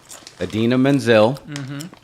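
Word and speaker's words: Idina Menzel: I'm gonna pull a Travolta and get her name wrong Adina Menzel I said it right yeah versus Alvin and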